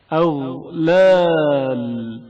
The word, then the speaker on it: أغلال: غین کی آواز جریان رکھتی ہے اور اچانک منقطع نہیں ہوتی. أغلال أغلال.